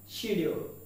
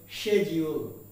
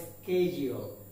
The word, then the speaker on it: schedule: শিডিউল, কিন্তু এর উচ্চারণটা হবে শেডিউল। কি হবে? শেডিউল। হয়তো শেডিউল, নয়তো স্কেডিউল, বাট নট শিডিউল।